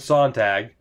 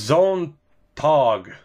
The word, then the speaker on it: Sontag: It wasn't Sontag. Ah, somebody told me how to pronounce it. It was Zontog.